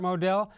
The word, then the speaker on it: Modell: but to loosely quote Art Modell which rhymes with Odell he may have had